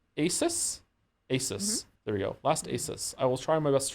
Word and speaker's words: ASUS: Last ASUS. I will try my best to remember ASUS. Okay. Like the motherboard.